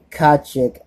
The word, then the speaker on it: Kotcheff: Directed by Ted Kotcheff. That's how you pronounce his last name.